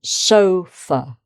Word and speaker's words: sofa: And then sofa. So the so is the strong syllable.